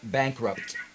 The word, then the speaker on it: bankrupt: sounding pts on the bankrupt bankrupt bankrupt yeah bankrupt you mean I need to pronounce the P yeah you really you really do need to it's a p and and then a t b bankrupt bankrupt